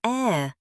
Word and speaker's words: heir: We pronounce it heir, no H sound at all.